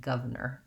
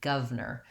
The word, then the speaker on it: governor: a little bit and say it more like governor governor where they kind of leave out this herb